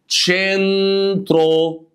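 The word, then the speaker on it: centro: تشي طبعا يا جماعه بص حرف الاي او اللي هو الاي انجلش ده بتبقى ايه خلينا نطقنا ايطالي بقى الاي تمام بتكسر شويه تقول تشي اللي مع حرف الاي بتفتح تشي تمام تشنترو تشنترو يعني وسط البلد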